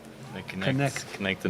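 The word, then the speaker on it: Knecht: e c HT and the way they pronounce it is connect connect conect connect the n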